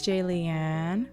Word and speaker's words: Jaliane: Hey, it's Jaliane, rhymes with Alien.